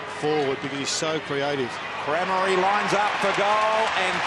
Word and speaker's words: Crameri: And we're told Crameri is the correct pronunciation, Jared, direct from his mother.